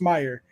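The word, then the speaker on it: Meijer: or Mir Meer Meer it's pronounced Meer oh how does it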